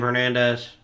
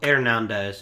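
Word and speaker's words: Hernández: Get him, Hernandez. Or Hernandez. Excuse me. The H is silent at being a Spanish accent.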